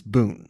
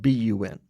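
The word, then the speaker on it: bún: we thank them foreign the Vietnamese word for what we know is vermicelli is Boon spelled b-u-n well I've enjoyed it for years I'm embarrassed to say I was only recently corrected for pronouncing It Bun so at St Peter's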